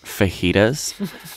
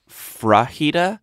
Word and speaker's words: fajitas: where she was making fajitas and she kept pronouncing it frajida so not even vagina like a good girl and then like three stories later she just started saying frighta and she's like putting